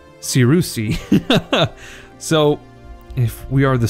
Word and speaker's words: Cyrusian: all the difference there it's not just Cyrus it's Saru see so if we are